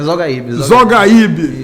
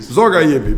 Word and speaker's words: Zogahib: Pronunciei errado novamente. É Zogaíbe. Zogaíbe.